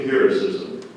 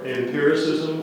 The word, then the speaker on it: empiricism: yes there's one in empiricism the two pronunciations are empiricism or empiricism it's a noun I am p e r